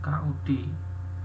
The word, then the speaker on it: could: sopan ya bacanya k ya l-nya enggak usah dibaca bukan k ya bukan k tapi k ya Jadi kalau di dalam fonetiknya itu k D ya KUD fonetiknya KUD itu banya kde Nah kdee